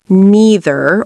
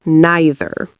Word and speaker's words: neither: Note, you can pronounce this neither or neither.